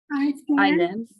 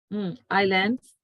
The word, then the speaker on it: islands: Islands. Islands which are off the coast of Chile. Yes, correct. ISLANDS islands. See, that's what I say. Islands. Island. S is silent. You don't need to pronounce it.